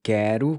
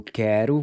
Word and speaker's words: quer: So it's pronounced just like quero, but without the O.